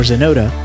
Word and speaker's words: Xenoda: by jesse johnson aka xenoda find more great music by searching jesse johnson or zonota spelled with an x on youtube and most